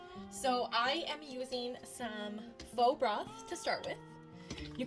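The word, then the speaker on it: pho: on that waistline F I'm sorry I think it's pronounced fa my friend Ryan always tells me that and uh I think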